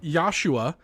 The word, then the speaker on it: Yashua: Anyways, I want to thank Yashua. It's Joshua, but they do include a pronunciation guide.